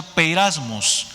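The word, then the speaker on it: πειρασμός: los mis hermanos y esta palabra en griegos siempre se pronuncia peyras moss y su significado es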